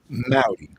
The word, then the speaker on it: Maute: Mauy. So the way that I gota Howdy. My pneummonic devices. Uh if you say hi to me and it rhymes, you're pronouncing it correctly.